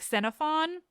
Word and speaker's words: Xenophon: I'll even tell you that technically it should be pronounced more like Xenophon, but I won't say that because it's weird on my English tongue as much as I do really like it.